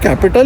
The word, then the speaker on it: Capitol: The pronunciation is capital. It's written as CAPITOL .